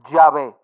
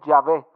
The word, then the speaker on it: Yahvé: De dónde viene Jehová los hebraicas han llegado al acuerdo general de que la pronunciación original debe haber sido llave estaba también No no